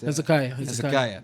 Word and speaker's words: Hezekiah: Hezekiah.